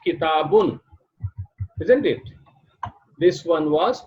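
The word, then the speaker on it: كِتَابٌ: we write this way, but we will pronounce it as we pronounced here, the previous one. The previous one was pronounced kitabun, isn't it? This one was pronounced kitabun.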